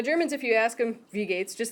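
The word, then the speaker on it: Wie geht's: first word is V second word is pronounced Gates like Bill Gates okay put that together V Gates is a no but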